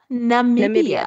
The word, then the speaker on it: Namibia: Namibia. Thank you. Namibia. Thank you, Namibia. Sounds like Zambia, but Namibia, not a place.